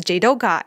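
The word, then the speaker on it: 自働化: The coolest one is automation is pronounced as Jidoka in Japanese, but when you read this Japanese kanji as Mandarin, it's pronounced as Zidonghua, which sounds quite similar.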